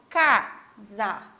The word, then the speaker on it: casar: Então, aqui nós temos casar. Então, eu falo casar. O K eu falo até um pouco mais alto, né? Quando eu vou pronunciar, eu falo ele mais forte.